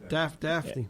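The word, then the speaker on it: Dafne: Daphne. It's Daphne. We said Daphne. It's Daphne. Yeah, Daphne. it's Daphne. All You right. said Daphne.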